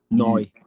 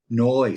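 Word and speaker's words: Neu!: Is it pronounced new or now? Noi. Noi.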